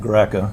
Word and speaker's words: Greca: Can you please state your full name and spell it for the record? K V I N G Graa.